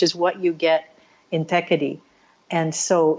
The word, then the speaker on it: Thekkady: It's called Thekkady. I'll spell it Thekkady, Thekkady.